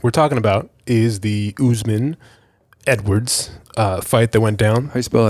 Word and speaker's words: Usman: I think it's spelled very phonetically close. Yeah, Like Usman. Yeah, U.S.M.A.N. I Yeah. think, or something like that.